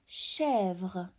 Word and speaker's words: chèvre: This is chèvre with the silent final E. As you can see, there is no dot, so we don't pronounce it. Chèvre.